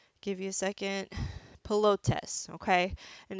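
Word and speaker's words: pilotis: also with the P give you a second pillow tests okay and it's spelled PIL ot is and this leaves the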